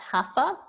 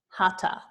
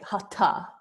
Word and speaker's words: Hatha: I pronounced it not hafa so it's spelled Hatha but it's pronounced hata the H is silent and you'll notice that